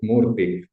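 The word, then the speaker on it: Krishnamurti: and Ju Krishna Morti by the way you pronounce it Morti.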